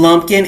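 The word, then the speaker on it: Lumpkin: um in special education uh in Lumpin and Lumpin. Is that right? Did I say it right? Yes, ma'am. In Lumpin and White counties in Georgia.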